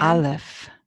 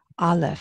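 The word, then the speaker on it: אלף: And Aleph. Hear it? Aleph.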